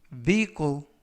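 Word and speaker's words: vehicle: 표현해 낸 며 있고 매 있고 돼 있고 이라고 발음 하시면 되겠구요 이 때 유의하실 점은 알파벳 h 가 이번 단어 에서는 묵음 이라서 발음이 되지 않습니다 품사는 명사 뜻은 자동차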